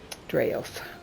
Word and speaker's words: Draof: Draof is how they say it here.